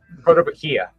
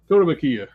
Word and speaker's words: Kotobukiya: How do you pronounce that? Kotobukiya. Kotobukiya.